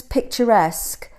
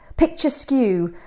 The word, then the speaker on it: picturesque: just can't help it she often pronounces picturesque picture skew and unique an EQ and it is amazing